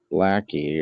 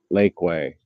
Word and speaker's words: Lakeway: close to you in Lackey or Lakeway. I guess the proper way to say it.